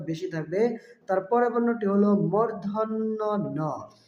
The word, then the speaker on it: ণ: থাকবে তারপরের বর্ণটি হল মূর্ধন্যন এ বর্ণটি অনেকেই ভুল উচ্চারণ করে মদিনার বা মধ্যান্য বিভিন্ন উচ্চারণ করে থাকে। আসলে সঠিক উচ্চারণ হবে মর্ধন্য। তারপরের বর্ণটি হল ত।